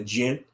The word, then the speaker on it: jinn: Angels created from the divine light, the jinn created from the smokeless fire, and you got the humans created from dirt, all the clay, Oh yeah, a spiritual jinn.